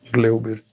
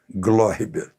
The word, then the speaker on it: Gleuber: Ele, como coronel, era assessor especial do presidente Geisel, que o chamava pela pronúncia alemã, Gleuber.